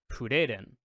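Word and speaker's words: フリーレン: So like for instance, if you've watched the anime, you've probably heard her name pronounced like Fureren, because that's how you pronounce Freyren in Japanese.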